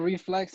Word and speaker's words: RifleX: I go by the name of Reflex. It's spelled Riflex.